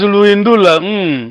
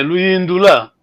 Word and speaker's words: Luindula: Bom, pronunciamos Luindula. Ok. Basicamente seria como aqui, tá vendo? Essa pergunta, tá vendo? O acento. Pense, Luindula.